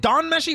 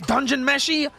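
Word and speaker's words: Dungeon Meshi: unless I'm crazy D is it Dawn meshy or is it dungeon meshy cuz isn't dawn like the shorten for it D meshy or is it dun meshy I don't I freaking know it is is dungeon meshy I don't want to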